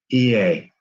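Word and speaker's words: Oia: o i a but you know what it's pronounced ea and those are some of the things that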